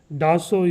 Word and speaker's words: Dassault: Dassault is the pronunciation, okay?